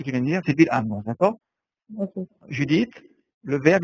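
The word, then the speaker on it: בלעם: Celui qui aurait prononcé cela dans le livre des Nombres. Balaam. Oui. Bilham.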